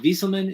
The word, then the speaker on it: Wieselman: But Sam, is it Wieselman? Is that how you pronounce it? Yep, that's right. Yep, nailed it.